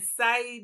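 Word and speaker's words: Saïd: trained at Harvard and Sai Business School at Oxford. Did I say that right? SC is it? You said it right.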